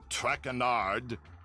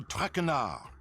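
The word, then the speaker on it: Traynard: As for my name, not Trackard. It is Trakar. traard traard enough.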